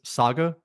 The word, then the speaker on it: saga: Saga, Mad Max, Furiosa, a Mad Max saga.